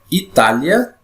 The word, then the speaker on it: Itália: Essa vogal I, ela é pronunciada com menos intensidade. E a vogal A é pronunciada com mais intensidade. Então, vou fazer a pronúncia aqui para você identificar como é que funciona aqui. Ó. Palavra Itália e palavra História. Ó. Itália, História. Tá vendo? Esse A vai lá para o alto.